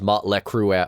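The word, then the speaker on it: Mötley Crüe: of that in fact in germany they get mispronounced as motley crue a lot just because of those oomlouts but um no those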